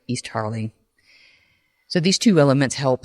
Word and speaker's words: East Harling: Starling is similar in pronunciation to the name of the village near the estate where the levels lived in Norfolk East Harling.